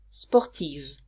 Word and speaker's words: sportive: If the adjective of the masculine singular form ends with an if, I write Eve in the feminine form, and I pronounce Eve. For example, sportif, sportive.